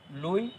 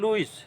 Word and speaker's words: Louis: তাহলে দেখো এখানে কিন্তু লেখা আছে লুইস, LOUIS, লুইস। এখানে এস কিন্তু সাইলেন্ট, অর্থাৎ এস এর উচ্চারণ আমরা করব না। লুই, তোমরা বিজ্ঞানী লুই পাস্তুরের নাম জানো, কখনোই লুইস বলো না, লুই বলো, কিন্তু তার নামের বানান কিন্তু এইটা।